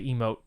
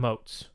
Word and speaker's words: emote: No, they just stress the wrong syllable. Instead of an emo kind of guy? Like, sounds to me like you're an emo kind of guy. It's a long E, not a short E. Emote, not emote.